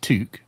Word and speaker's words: toque: It's pronounced toque, though historically it also meant brimless hats for women or chef's tall white hats.